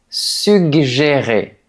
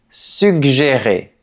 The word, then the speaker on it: suggérer: Il faut prononcer les deux G. Mais le 1er g et le 2e g ne se prononcent pas de la même manière. On dit suggérer. Oui, deux mêmes lettres peuvent avoir deux sons différents dans un même mot.